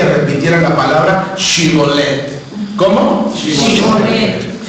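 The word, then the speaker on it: שיבולת: Si en realidad el hombre era de Efraín, no podía pronunciar bien la H debido a la peculiaridad de su dialecto local, como nosotros en el norte, y por lo tanto siempre contestaba Sibolet.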